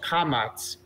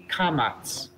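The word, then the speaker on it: קָמָץ: the vowels for example the first vowel is called kamats can you repeat after me commas beautiful nice natural pronunciation it's a very good start and just like the name comets we hear ah and that's the vowel sound of the Kamas ah Sawa thank you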